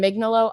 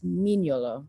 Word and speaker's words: Mignolo: And Mignolo, although if I say it correctly, the Italian way, I believe it's Mignolo, but I always say it a horrible American way.